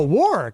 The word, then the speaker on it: Warre: Is it Warre? War, like in Second World War. Oh, Warre.